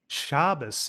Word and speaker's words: Shabazz: Uh the the way my grandfather uh pronounced it was like the Z was like an S, Shabazz. Shabazz, interesting.